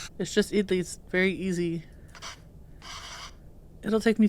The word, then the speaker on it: idli: Idli is pronounced idli, so idli plate, towel, cooker.